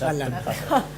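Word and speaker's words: Allan: Alan. Juan Pablo Alan. Alan, sí. Se escribe diferente al mío. Alan sos vos, sí. Alan también. Muy bien. Se pronuncia igual.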